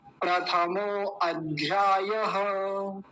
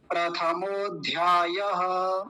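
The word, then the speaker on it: प्रथमोऽध्यायः: हा जी हा जी पहले मैं इसका गलत उच्चारण करता हूं ध्यान से देखिएगा प्रथमो अध्याय ये गलत उच्चारण है शुद्ध उच्चारण देखिए प्रथमो धय धय प्रथमो धय मतलब बीच में अ नहीं लगाएंगे ये ध्यान रखेंगे क्या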